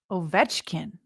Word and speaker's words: Ovechkin: Ovechkin.